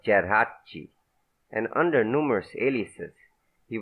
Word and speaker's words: Geraci: him for acceding to the American pronunciation of his name, Geraci instead of Geraci, and under numerous aliases.